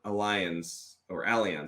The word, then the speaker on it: Allianz: There's an old Allianz, that's how you pronounce it, study from a few years back